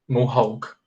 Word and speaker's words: mohawk: We say like this, ó, aqui a gente fala mo, and then I say hawk, mohawk, okay?